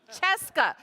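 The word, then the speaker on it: Scieszka: Little Pigs written by John chesco chesca rhymes with fresa and illustrated by Lane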